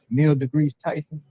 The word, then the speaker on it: Neil deGrasse Tyson: Whether it's a politician or they love this one nigga, Neil deGrasse Tyson.